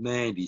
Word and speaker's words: Nadi: you mate currently in nandy uh nandy is spelled n-a-d-i but there's a hidden n in nadi and it's actually called nandy so that's where i am